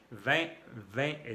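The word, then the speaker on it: vingt: 20 es 20. Con la V de vaca que se pronuncia con el labio de abajo, por debajo de los dientes.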